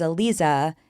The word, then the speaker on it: Aliza: So even though somebody might read it one way, they would realize it was Aliza and not something else.